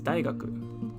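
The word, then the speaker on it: 大学: but in together it means university and it's pronounced as daigaku and it means university okay if you want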